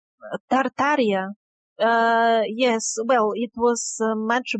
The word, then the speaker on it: Tartaria: from history entirely is one called Totaria, if I'm pronouncing it right, that is somewhere in modern Russia? Tartaria.